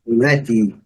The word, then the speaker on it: ready: Ready, olha a separação do símbolo, interessante. Ready, letra A, não é pronunciada.